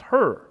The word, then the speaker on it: hir: ze, is the subject pronoun and is pronounced ze, and her is the object and possessive pronoun and is pronounced her.